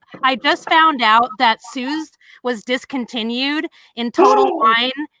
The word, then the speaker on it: Suze: I would say Suze, but it's Suze. So we should talk about this for a second because you guys, I just found out that Suze was discontinued in Total Wine.